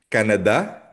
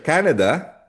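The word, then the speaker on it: Canadá: Canada hindi siya Canada. Canada nasa da ang tilde pag sa Spanish.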